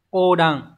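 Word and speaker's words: 横断: Ở số 4, từ này đọc là Ô đằng.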